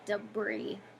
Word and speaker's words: debris: It's actually pronounced debris.